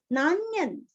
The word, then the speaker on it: नान्यं: नान्यन, नान्यन जैसे अन्य वैसे यहाँ पे नान्य अनुस्वार का उच्चारण आधा न, नान्यन।